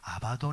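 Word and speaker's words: Abaddon: 아볼 오리 되었든 간에 히브리 식 발음은 아바돈 이고 헬라 식 발음은 아볼 온 인데 사탄의 다른 형태의 이름입니다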